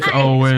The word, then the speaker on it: Eoin: I guess his name is it Owen? It's Owen. Owen.